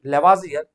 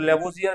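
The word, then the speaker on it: Lavoisier: नाम था उनका लेबोजियर और यहां पर ओ के ऊपर डबल डॉट रहता है। डबल डॉट में फ्रेंच प्रोनाउंसिएशन के अंदर इसको आ पढ़ा जाता है। ओ की जगह आ। तो the name should be लेवाजियर बट हम लोग लेबोजियर भी कह सकते हैं।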